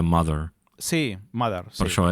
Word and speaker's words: Muthur: Sí, però és que no és Muthur, és pronuncia Mother.